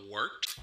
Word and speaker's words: Wort: Not warts, not forts, not short.